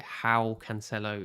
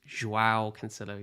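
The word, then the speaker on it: João Cancelo: earlier yes i'm sorry i pronounced it howe cancelo it's joao cancello yes i'm sorry i'm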